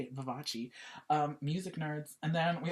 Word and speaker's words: Vivace: That's how you say it, Vivace.